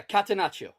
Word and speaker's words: catenaccio: Kata, like kata, and then nacho, like the cheese. Yeah, catenaccio.